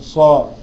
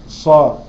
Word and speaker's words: ص: انواع الاربعه دول طيب الصاد ليها صفه وتميزها تاني ايه الصفه اللي في الصاد تاني انا بقول صا بطبق بقي ساعه ماج انطقها بقول صا ايوه حرف صفير فيها صفه الصفير بالظبط يعني صا لازم تبقى فيها صفاره وانا بنطقها صا حروف